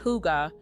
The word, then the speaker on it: Hygge: Hygge, pronounced Hygge, is a Danish concept that involves taking time